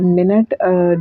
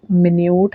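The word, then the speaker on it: minute: मिन्यूट है। Spelling same है लेकिन साउंड चेंज होती जा रही है।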